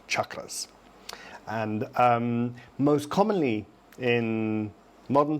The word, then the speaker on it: chakra: So it's CH, cha, and then a tapped R. So chakra is the correct pronunciation.